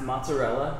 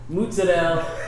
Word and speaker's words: mozzarella: Hey, while we're on that, I want to say that mozzarella is pronounced mozzarella, ricotta is pronounced ricotta, prosciutto is pronounced prosciutto. It's not rigot, mozzarella, or prosciutto. Those are East Coast American.